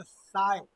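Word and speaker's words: psi: इसको पढ़ेंगे साई। P silent रहता है, क्या पढ़ेंगे? साई पढ़ेंगे, है ना।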